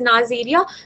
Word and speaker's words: Neisseria: नाम में है निजीरा में, that is वी कैन pronounce it as Neisseria, so that is Ames transport media, and another is what, the Stewart's transport media.